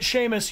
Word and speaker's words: Seamus: Oh, Daydreamer, if you're pronouncing it Seamus, you are correct.